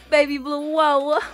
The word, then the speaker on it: Baby Blue Woah: Baby Blue Woah.